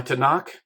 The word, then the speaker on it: Tanakh: so as a and they put a couple vowels in there and pronounce it tanak it's just a hebrew